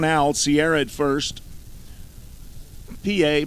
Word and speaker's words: Pie: PA, pronounced PA, is spelled like pie, P-I-E. If he was a pitcher, his ERA would be 3.16, which is pi.